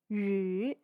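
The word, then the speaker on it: 鱼: They have the exact same pronunciation and intonation. They're both pronounced yu.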